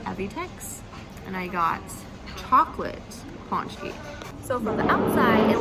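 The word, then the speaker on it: pączki: But it's a paczki, not a punchki, and not a patchki. So I'm at this bakery called Evitex, and I got chocolate paczki.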